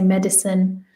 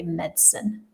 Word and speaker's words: medicine: middle, you can say medicine, but it is more common to remove it. It's more common to say medicine because often the middle vowel is removed in English for speed.